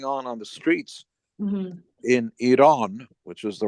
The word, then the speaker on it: Iran: whatever was going on on the streets in Iran which is the right way to say it